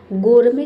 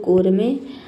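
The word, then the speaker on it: gourmet: सब में देखिए टी साइलेंट है। गोरमे का मतलब होता है स्वादिष्ट भोजन का हम बोलते हैं गोरमे।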